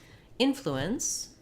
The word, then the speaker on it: influence: on the flu syllable, but in influence we're stressing on the in syllable. Even though it seems maybe like it might be short and unimportant, that's actually where the length goes in this word.